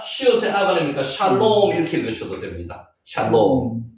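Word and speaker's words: שָׁלוֹם: 그러면 쉬의 아 하면 뭐예요? 샬입니다. 샬롬 할 때 샬롬이거든요. 샬롬. 요게 여기다가 단어 스펠 위에 점 있으면 오 발음이다 그랬죠. 리얼의 오 발음하고 미험하면 롬입니다. 샬롬.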